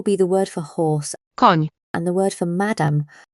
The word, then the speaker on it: Koń: If you've ever said canyon or onion, you've already made this sound. An example will be the word for horse, Koń, and the word for madam, pani.